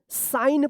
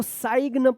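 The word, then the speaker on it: sign: से पहले जी आता है तो जी भी साइलेंट होगा तो इसको क्या पढ़ेंगे? साइन पढ़ेंगे। इसको सग मत पढ़िएगा।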